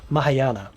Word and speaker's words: Mahayana: also have the mahayan butcher mahayana that's how you say it where villagers take 10